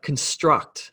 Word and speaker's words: construct: on the second syllable but if i use that word as a noun like a mental construct construct this the emphasis shifts to the first syllable so the word stresses on con not struct so if i feel